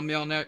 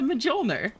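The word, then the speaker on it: Mjölnir: Surely you know the J is silent. No, it's a Mjolnir.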